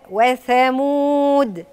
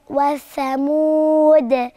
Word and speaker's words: ثمود: مش بالسين، بالثاء. وثمود. وثمود.